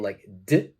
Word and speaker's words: liked: word is liked liked it's a t sound number two please look